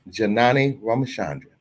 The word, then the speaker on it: Janani Ramachandran: Attorney Janani Ramachandran, Esquire, pronounced Janani Ramachandran, here to give us the latest news affecting